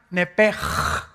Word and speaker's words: nepesh: Entonces se pronuncia nepj.